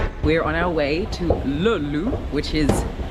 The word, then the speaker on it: Löyly: We're on our way to Löyly, which is spelled this way. I'm going to write it here. Löyly.